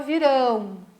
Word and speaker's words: virão: Viram, qual é a sílaba tônica, a sílaba forte? É o vi. Virão, qual é a sílaba forte? O ão, né? Lá a última sílaba.